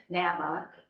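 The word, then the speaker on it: NAMI: this is a program Nama is how they say it it's a support group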